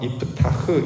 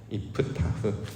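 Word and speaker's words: יפתח: 실제로 그 입다라고 지금 우리가 이제 발음을 하는데 원래는 이제 파타흐라는 단어 써서 이프타흐 이렇게 이제 길게 발음을 해야 되거든요. 이프타흐. 근데 이제 우리는 그렇게 발음을 안 하고 그냥 입다라고 이 발음을 하는 것이죠.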